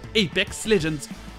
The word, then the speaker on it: Apex Legends: Et Legends, c'est juste légende en anglais, avec le G qui se prononce J. Apex Legends.